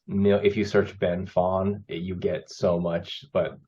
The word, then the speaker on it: Phan: Phantom part so my my birth name is Fawn p-h-a-n and Phantom was kind of always my